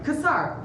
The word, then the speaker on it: Kasar: say your last name casar kasar just exactly like because it is spelled he is with homes